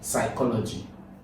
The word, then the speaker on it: psychology: This P is silent. If you have to call this word now, you call it what? Psychology.